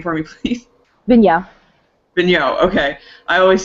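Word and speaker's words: Vigneault: it wrong um because there are a lot of letters that we just ignore apparently yeah it looks like it should be vigal but it's not yes um I think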